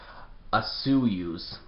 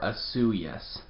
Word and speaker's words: Osoyoos: is that it's pronounced asuyu's or asu yes depending on who you talk to um but one thing's for sure there is no soy in fact in my